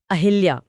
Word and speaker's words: अहल्या: इसमें ह पर छोटी ई की मात्रा नहीं होती। लेकिन लोग तो हमेशा मात्रा लगाते हैं। क्योंकि आम बोलचाल में उच्चारण की सुविधा के लिए लोगों ने ह पर मात्रा लगा दी, लेकिन परीक्षाओं में अगर